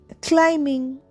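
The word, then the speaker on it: climbing: ওয়ার্ডসে B after M silent আমরা জেনে নিই ক্লাইম্বিং এখানে বিটা সাইলেন্ট এখানে শুধু আমি বলছি সি এল আই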